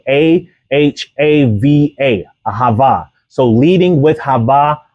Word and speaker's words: Ahava: Hava is spelled A-H-A-V-A, Ahava.